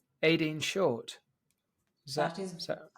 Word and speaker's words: Shortt: The impeccably named, and tell me if I get this wrong, Aideen Shortt. That is correct. That's correct. I just wasn't sure if I was pronouncing your surname correctly because it's spelled rather magnificently with 2 T's.